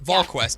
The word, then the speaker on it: VolQuest: That's how you pronounce it? VolQuest.